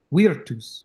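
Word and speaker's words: virtus: okay cool only the the v in classical Latin is pronounced like what we would say a w is so it's wus weirus weirus uh so uh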